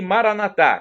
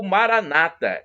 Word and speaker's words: Maranatá: E Maranatá, como dizemos nós católicos, com a tônica na última sílaba, ou Maranata, como dizem os nossos irmãos separados, os evangélicos ou protestantes. Mas não importa a pronúncia.